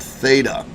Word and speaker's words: theta: And generally what we'll use is this Greek letter called theta. That is spelled T-H-E-T-A.